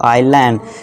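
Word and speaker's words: isle: यदि आई के बाद एस हो तो ऐसा साइलेंट होता है। आई के बाद क्या है, एस है, तो इसे क्या पढ़ेंगे, हम साइलेंट कर देंगे इसको, आइलैंड। इस तरह से क्या पढ़ेंगे, आइल।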